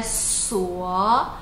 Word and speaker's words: 所: Essa letra S no meio, ele não tem o som de Z. Ele é pronunciado como se fosse duas letras S. Então é suó, suó.